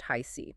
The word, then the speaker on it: HiC: And this material is provided by Tarot, by High C, spelled HHIC, but pronounced High C.